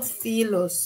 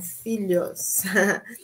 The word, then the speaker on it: filhos: têm quatro filhos Nossa não não são filos são filhos Eles TM quatro filhos